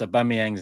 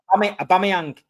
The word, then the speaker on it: Aubameyang: For the first time in big six history, Steve pronounced Aubameyang's name right. I know as well. He was again people Aubameyang.